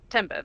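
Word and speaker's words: timbre: Uh, timber. That's t i m b r e. Like Okay. Like like what what you say when a tree falls. Yeah. Pronunciation wise.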